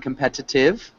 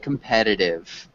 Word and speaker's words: competitive: Yeah, just be aware that it almost has a D sound at the end. So instead of saying competitive, it generally sounds like competitive.